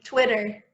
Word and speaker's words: Twitter: Twitter. Oh, sí. Mejor. Twitter. Wow. Pero es como si le pusiera una O delante de la E, ¿o no? Suena así un poco.